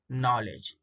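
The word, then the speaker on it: knowledge: यहाँ देखो एग्जांपल्स है, देखो now, knock, knife, night, नॉलेज। ये सब साइलेंट के लेटर के एग्जाम्पल है।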